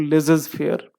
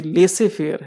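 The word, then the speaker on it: laissez-faire: मुश्किल क्या है, अगर नहीं बोलते हैं तो कुछ लोग बोलते हैं इसको लेजेस फेयर। लेजेस नहीं है, ये लेसे फेयर है। लेसे फेयर का मतलब क्या होता है, लेसे फेयर स्टेट हम लोग पढ़ते होंगे जनरल स्टडीज में।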